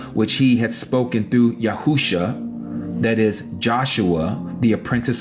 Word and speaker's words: Yahusha: you know as Joshua his real name in Hebrew the pronunciation is yahusha the same as our